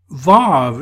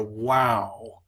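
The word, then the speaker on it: ו: hat tat good now bob is the modern way people pronounce this letter you will hear a lot of biblical people talking about a wow so some people will talk about a Valken sec you t'v some will talk about a Wow consecutive it's the same thing it's just following two different pronunciations the WoW is probably the more ancient way to do it the problem is we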